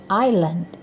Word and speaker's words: island: Pulau itu cara membacanya island. Jadi tidak dibunyikan suara S-nya.